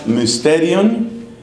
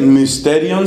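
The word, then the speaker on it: μυστήριον: Curiosamente, la palabra mysterion en griego se tradujo al latín como sacramentum. Ese mysterion se escribe con la Y, que se pronuncia como la I francesa.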